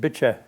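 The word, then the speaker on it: Bitche: e and the the French probably pronounced it Bish but I I heard the locals pronouncing it they called it bit you know the area was occupied by Germans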